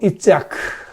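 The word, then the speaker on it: יצחק: 그런데 바로 이삭, 이제 히브리어로 이츠아크, 이제 우리 한국식으로 발음해서 이삭, 그 이름 뜻이 뭔지 아시지요?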